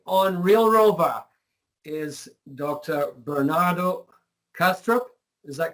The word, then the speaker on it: Bernardo Kastrup: Bernardo Castro is that correctly pronounced um it's correct yeah Bernardo has a